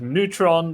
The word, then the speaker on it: Neytpoh: with EnTe and Neytpoh, also pronounced as Neutron, but it's spelled as Neytpoh.